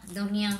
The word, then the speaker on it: de rien: You don't pronounce the N, so de rien.